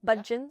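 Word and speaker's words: Budgens: Did I pronounce it all right? Budgeons?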